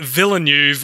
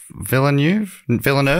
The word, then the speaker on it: Villeneuve: adaptation were picked up by French-Canadian director Denis Villeneuve, which is, funnily enough, the hardest to pronounce name in this whole report, I find.